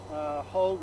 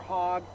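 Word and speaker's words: Hogue: the Shenandoah Valley and William Hoag or Hogg, sometimes they're pronounced both of these, H-O-G-U-E, was the first one to have this area.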